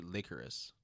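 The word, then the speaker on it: Lycoris: you double check on it's actually it's it's actually licorice shut the up yeah phonetically it's just licorice well like chorus recoil uh is an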